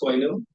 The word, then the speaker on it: Toy New: Before I get started, my name is Toy New. It's pronounced like New Toy backwards, Toy New.